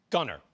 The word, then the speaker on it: Gunnar: It shows first of all, proper pronunciation of your first name. Gunnar Gunner.